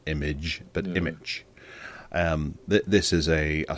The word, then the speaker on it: Immich: playing with um I'm I'm very much using image as one of my main uh Graphics or